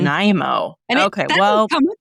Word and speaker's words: Nanaimo: Okay, Sarah, you got to help me how to pronounce this one. Is it Nanaimo? How do you say this? Nanaimo, but I could be wrong. Nanaimo.